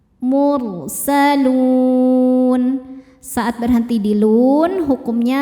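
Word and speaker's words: الْمُرْسَلُونَ: Ra sukun dibaca secara tafkhim karena sebelumnya dhammah, dibacanya tebal. Mursalun.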